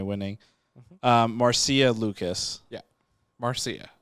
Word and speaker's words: Marcia: uh marcia lucas yeah marcia marcia marcy or marsha well it's spelled m-a-r-c-i-a marsha marcia anyway so she she